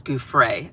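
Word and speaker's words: Giuffre: or actually, I'm sorry, it's not Guy, it's Guay.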